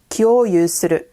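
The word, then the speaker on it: 共有する: This word is pronounced kyoyu suru, and it means to share.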